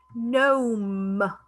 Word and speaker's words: gnome: Gnome, letter G is silent.